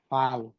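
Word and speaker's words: 팔: আট হচ্ছে ফাল। কিভাবে ফাল হলো? ফিফের ফতে আছে আ। আই হচ্ছে আকার। নিচে রিউলার ল। এ ফাল ফাল হচ্ছে আট।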